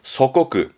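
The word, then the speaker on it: 祖国: 내 나라 조국의 발음은 소코쿠, 소코쿠.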